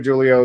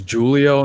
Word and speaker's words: Julio: And we should just want to make it clear, Julio, that that's how you pronounce your name.